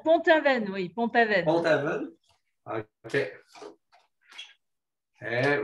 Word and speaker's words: Pont-Aven: Pont-Aven, je ne sais pas Ah, comment vous le prononcez. Pont-Aven, oui, Pont-Aven.